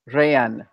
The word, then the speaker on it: rehén: It gets shortened. It sounds like one syllable, but it should be two.